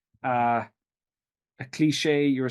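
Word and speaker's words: cliché: said correctly uh a cliche you were saying a clash or something I can't remember exactly I said cliche that's right so it should be CLE e c cliche okay so those types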